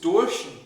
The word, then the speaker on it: durch: Yes, durch is a very hard word to pronounce in German because it requires multiple locations inside the mouth. Durch. Sort of pull it up at the end.